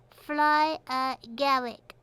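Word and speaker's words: fly agaric: a flyer Jer mushroom pronounced fly Garrick Garrick as in garlic and Gary flyer Garrick mushrooms are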